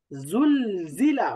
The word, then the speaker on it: زلزلة: আজ, হ্যাঁ, ইজ, আজ, অর্থাৎ এই উচ্চারণটা থাকবে ঝিঝি পোকার মতো। ইজ। আজ, হ্যাঁ, ইজ, জিল জালাহা, জুল জিলা, বলেন তো জুল জিলা।